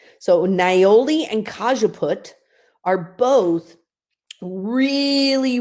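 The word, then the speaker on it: niaouli: to mention two others nioli okay now I didn't say neurally okay I said nioli so I'm actually going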